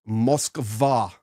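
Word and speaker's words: Москва: It's an M-O-C-K and then a B and an A, M-O-C-K-B-A. I'm giving you that phonetically with English, but that's Cyrillic, and it is Moskva, which is Moscow.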